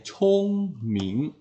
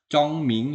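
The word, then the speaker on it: 聪明: Chung Ming lingli ya bacanya Chung Ming m ya jangan Cong Ming ya bukan Cong ya Chung Chung Ming Ling Li kemudian k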